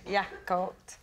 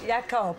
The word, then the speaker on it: Jakob: please team why on Earth would you take yakob y yob yakob yob yob it's spelled into a cinema Jacob but pronounced yob